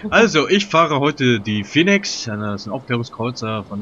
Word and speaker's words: Phoenix: Also, ich fahre heute die Phoenix.